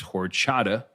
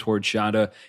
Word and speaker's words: Horchata: you should look for one that I would pronounce as horchata. Right. It's spelled or XATA. Right. So depending on how Mayan you want to go, I pronounce it as horchata.